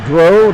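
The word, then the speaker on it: Dreux: the stick of carl dro dro again spell d-r-e-u-x i hope i'm pronouncing that correctly it's either drew or dro and i'm gonna say dro but it might be drew if i'm pronouncing it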